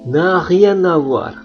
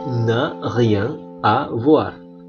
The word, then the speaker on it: n'a rien à voir: Perhatikan pengucapannya, n'a rien à voir, bukan n'a rien à voir. Karena dalam bahasa Perancis itu ada dikenal istilah liaison atau penggabungan kata.